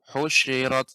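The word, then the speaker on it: حُشِرَتْ: Tapi nanti shin-nya lebih banyak lagi Pak ya. Pengucapan shin ini lebih banyak. Apa tafasyi? Husyirat, wuhusyu, shu.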